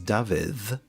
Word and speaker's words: Dafydd: So when you see two Ds together, you get th. So your name, David, for instance, in Welsh is Dafydd, which is spelt D-A-F-Y double D. Dafydd. Dafydd. Yeah, it's voiced.